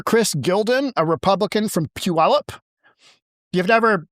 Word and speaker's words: Puyallup: Key language Um Senator Chris Gildon, a Republican from Puyallup You have never said this word. Try and pronounce this word without me saying it.